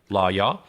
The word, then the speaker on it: Lawyaw: forward shots law yeah that's spelled l-a-w y-a-w law y'all uh and so uh